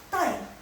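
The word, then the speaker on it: 带: Nah kalau ditambah dengan nada keempat, jadi bacanya tai, nada keempat, tai.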